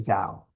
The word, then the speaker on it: Tao: The Taoist text describes the Tao. It says the great Tao flows everywhere. Don't get confused by the T and the D. We pronounce it as a D, but it's been written both ways historically.